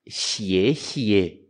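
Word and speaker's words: 谢谢: X e e cuidado gente cuidado com a pronúncia do obrigado em chinês xie xie e oashi a toachi é japonês ah é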